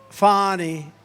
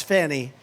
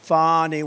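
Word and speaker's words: Fani: right has anybody Fon it's pronounced fonnie F A ni I that's Fanny but she likes it fonny when she became the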